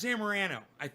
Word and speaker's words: Zamorano: Stef Zamorano. Believe that is the correct way to say her last name.